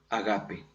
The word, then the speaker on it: ágape: Es el amor agape, o ágape como generalmente ya le decimos, no por pronunciación nuestra.